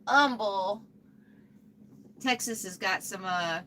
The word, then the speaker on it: Humble: Hi from I know it's not called Humble. You guys call it Umble.